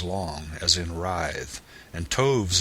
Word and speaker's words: toves: as in writhe and toves is pronounced so as to rhyme with Groves again the first o